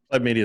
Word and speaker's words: Pleb Media: Pleb Media is fine. Yeah, Pleb. P-Leb. I'm not that picky about it. Everybody pronounces it different and always worries that I get offended.